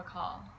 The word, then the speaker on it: Akaal: times we the UH the first syllable is short and then call is very long so we take a